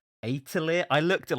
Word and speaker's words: Atelier: standard JRPG series called Atelier. I looked at like 4 different YouTube Atelier. reviews. Is that how you pronounce it? Yeah, it's like a French thing, isn't it?